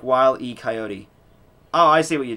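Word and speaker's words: Wile E. Coyote: reviews they are y it's pronounced like while E coyote oh I see what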